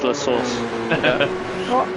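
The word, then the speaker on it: La Source: lour lus even I put that one through um Google pronunciations and it came through as lasource okay all right meanwhile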